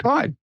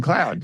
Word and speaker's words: Claude: pronouncing it right now did you pronounce it correctly just now Claude CL Claude you had been saying cloud now I'm now I'm